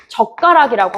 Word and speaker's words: 젓가락: 근데 발음할 때 뭐라고 할까요? 젓가락이라고 하죠. 젓가락 좀 줘봐 이렇게 얘기하니까 얘는 된 소리에 해당한다라고 볼 수 있습니다.